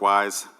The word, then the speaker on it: YS: It's pronounced Wise because it's the plural of Y.